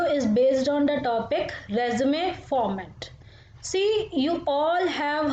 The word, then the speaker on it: résumé: So in French we pronounce E as A, not E. So that's why we call it resume.